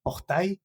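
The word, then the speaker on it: portail: Ah, orta. Ah, orta. Esa L no se pronuncia.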